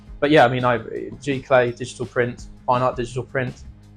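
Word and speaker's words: giclée: question to already ask how do you pronounce g g clay g g clay G oh my God thank you g clay and what is it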